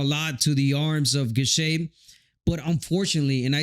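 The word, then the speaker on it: Gausha: Yes, the eye-catching punches were landed by Gushet, and that's why I thought that Gushet took that fight.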